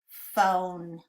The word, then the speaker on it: phone: Digraph PH. O needs a macron. It makes the O sound. And do we hear the E at the end? It is silent. We're going to cross it out. Because it's a sneaky E, it makes this vowel O say its name. Let's sound it out together. O, phone.